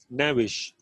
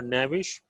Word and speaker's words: knavish: If you are knavish, okay, K is silent into that. If you are knavish, you are um, you are in a very you are a bad person.